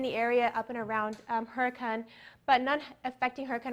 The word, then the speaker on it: Hurricane: we have hurricane but it is pronounced a little differently than what it looks like or what we know it to be so some fun facts